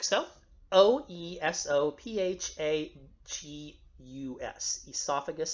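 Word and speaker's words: oesophagus: Greek and ancient Latin it's pronounced like an e sound or like an a kind of sound so I sometimes I'll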